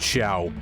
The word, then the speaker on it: Xiao: jiao if you care her name is pronounced show shall shall shall okay